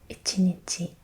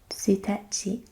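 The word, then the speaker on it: 一日: And you say that, this is a very fun word to say, ichinichi, ichinichi, or tsuitachi, tsuitachi, one day and first day.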